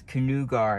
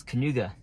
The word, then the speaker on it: Kanuga: feedback to the maps canoe gar is wrong it's kanuga you knew guys how